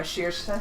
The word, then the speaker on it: Saoirse: Then, oh yeah, Saoirse. Saoirse. Saoirse. Saoirse. Saoirse. Saoirse. My favorite one is Ashlyn. That's pronounced Ashlyn.